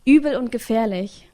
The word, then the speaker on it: Übel und Gefährlich: And you're playing in the Übel und Gefährlich, which means it's a really cool underground club.